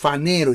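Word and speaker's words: φανερόω: el término panero con se escribe con p ph panero y se pronuncia faner o como que fuera una f panero esto tiene que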